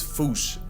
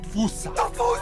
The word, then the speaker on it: fossa: Malagasy word, and apparently the correct way to say it is Foosh. Like Foosh with a performance anxiety at the end. Foosh! Foosh! Foosh! First, feel free to correct me, but apparently that is the closest to the OG Malagasy pronunciation. It's just that the global game of telephone has Americans saying Fusa, while England pronounces it as Fossa.